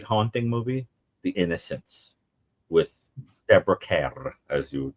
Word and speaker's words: Deborah Kerr: Another great haunting movie, The Innocence with Deborah K, as you would correctly pronounce it. Deborah Kerr, as we say here.